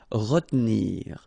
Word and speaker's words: retenir: Okay, so normally in that situation, well, you've got to pronounce this re, okay, but then you don't insist too much on this here, so it goes like retenir, retenir.